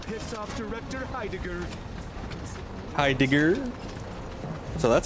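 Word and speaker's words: Heidegger: Hi Digger.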